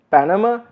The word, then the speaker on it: Panama: Panama, the stress is on the first, the second two are, and the second and third are kind of non-stressed.